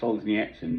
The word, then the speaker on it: Solzhenitsyn: i read the two solzhenitsyn books that's the proper way to pronounce his name apparently he solves the nits in books which came out